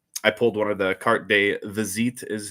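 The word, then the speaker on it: carte de visite: Um I pulled one of the cart de vazit is how it's supposed to be pronounced.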